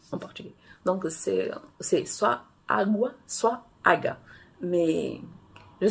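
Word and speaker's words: água: Mais quand tu as appris à lire en français, ben, tu vas avoir la tendance à lire aga, parce que c'est un G-U. Il n'y a pas de son U en portugais. Donc, c'est soit agua, soit aga.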